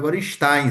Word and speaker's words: Gorenstein: O meu nome não é. Meu nome é Gorenstein. Se você quiser falar em português, vai ser Geninstein. Se você quiser falar na forma como era pronunciado na na Europa Oriental há 100 anos, 120 anos atrás, era Gorenstein, né? não é agora em.